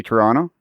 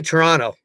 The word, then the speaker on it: Toronto: know how to say Toronto I say Toronto yeah it's the second of the second T is silent but that's because I